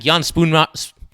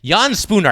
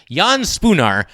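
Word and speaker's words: Jan Spooner: reasons yeah i think jan spoon i keep mispronouncing it yan spooner i keep trying to throw another consonant in there yan spooner i think is a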